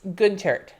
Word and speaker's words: Guentert: So it's Guentert. Gun. Like gun. I don't know how you would spell that. Gun. Not like gun, but gun. Like add an E to the word gun. Instead of gun, it's gun.